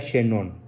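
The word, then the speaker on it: Chénon: mis tesis se llama emil chenón así tal como se pronuncia se escribe en 1000 Emilio se pronuncia xenón un formidable autor francés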